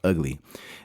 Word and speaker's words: VGLY: And like I told you, it's spelled VGLY, but it's pronounced Ugly.